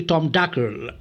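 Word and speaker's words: Tom Dacre: वहाँ जो बच्चा काम करता था टॉम डाकर, डाकर बोले एक्चुअली टॉम डाकर, राइट, ऐसे ही प्रोनाउंस करना है उसको, है ना, टॉम डाकर।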